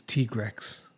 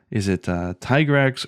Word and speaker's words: Tigrex: ago, said on Twitter, no, it's supposed to be like a T-Rex, like a Tyrannosaurus Rex. So what did he call it? I think he said it was Tigrex.